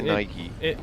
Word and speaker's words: Nike: Because I say Nike. It's Nike. It's Nike. It's Nike because it's Yeah, the that's Greek the god thing. of speed.